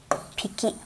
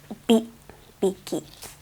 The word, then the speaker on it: 匹: Okay, so please be careful about how you pronounce piki or hiki. So, and for 3, it's biki. So when you count small animals, please remember this.